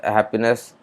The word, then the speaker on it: happiness: Añadir el afijo clase 2 ness, happiness, el acento permanece en hap, mostrando que el afijo fue adjuntado después de que se aplicaran las reglas de acento.